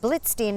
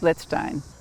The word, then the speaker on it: Blitzstein: over because i said is his name mark blitzstein and you corrected me which i want to do he pronounced it let's stein my mother anita leader